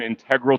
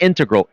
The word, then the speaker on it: integral: Pronunciation, not integral, integral. It's so elegant the way you say it. The pronunciation. Integral. Yeah. Really? Right? You like that? Versus. Integral. Oh, yeah, I mean you can pronounce it both ways.